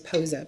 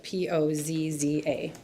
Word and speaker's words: Pozza: My last name is Pozza, Pozza.